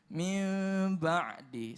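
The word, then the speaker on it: مِن بَعْدِ: bertemu dengan ba ya maka dibacanya adalah samar-samar keemi menjadi Mi back hingga min ba'di ya jadi pemirsa dimuliakan Allah bacanya mimba'di Sebagian ada yang membaca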